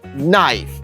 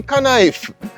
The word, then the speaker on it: knife: tell me say Malik say knife no it's K knife has to be kife you can't stress silent